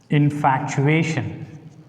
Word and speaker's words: infatuation: And take this word, infatuation. Infatuation. Ye is the separate syllable here. So put the stress mark on ye.